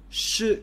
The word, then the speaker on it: 是: Okay, this is 是 going down, fourth tone.